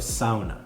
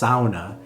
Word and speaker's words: sauna: But I guess it is actually pronounced sauna. That's how it's pronounced in kind of the Finnish dialect. One of the top activity suggestions here in Helsinki is to visit a sauna.